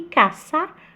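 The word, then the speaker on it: caza: E caça com som de S também.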